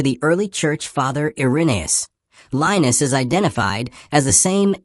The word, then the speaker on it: Linus: Pope Lionus Greek Lambda Linos pronounced Lionus who died around 80 AD served as the bishop of Rome from approximately 68 AD until his death.